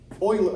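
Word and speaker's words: Euler: Um part of the equation is you have to take e oiler. I think you pronounce it Oiler.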